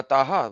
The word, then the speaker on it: Taha: so how does th toa has to be pronounced with the elongated alif on to and elongated alif on ha that is not there.